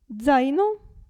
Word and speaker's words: zaino: e tazza però attenzione la Z all'inizio della parola si pronuncia z z zaino e qui Zero calza